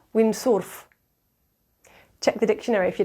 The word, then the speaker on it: windsurf: Spanish words either so the word windsurf would be pronounced windsworth yeah windsorff check the dictionary if